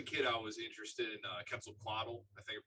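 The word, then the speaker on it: Quetzalcoatl: I was a kid I was interested in kle quaddle I think I pronounced that right yes yeah the uh the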